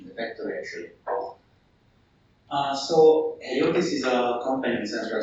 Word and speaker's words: Heliotis: He's currently a project manager at Heliotis AG. Is that how I pronounce it?